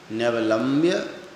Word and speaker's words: न्यवलम्ब्य: आलम्बनान विविधा न्यवलम्ब्य तब सही उच्चारण होगा न्यवलम्ब्य वल्गन।